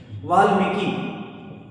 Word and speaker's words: वाल्मीकि: वाल्मीकि, देखो वाल्मीकि शुद्ध शब्द होगा वाल्मीकि, छोटी की मात्रा लगेगी।